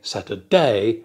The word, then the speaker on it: Saturday: and syllables for example the word Saturday has three syllables Saturday du the first syllable is stressed we don't say Saturday and we don't say Saturday we say Saturday du D du so